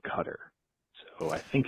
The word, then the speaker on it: Qatar: Uh regarding Cutter versus Qatar, my brother worked over there for a couple years. He left saying Qatar. He returned saying Cutter.